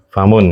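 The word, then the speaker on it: فَمٌ: Terus e baqaratunya khabar wahua mudf wahua mud alfalahi hadza anfun wa hadza famun hm bacanya wadza famun famun ya pendek ya bukan famun tajim ini adalah hidung.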